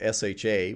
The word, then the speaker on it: SHA: We're going to use something called SHA, which I like to pronounce sha.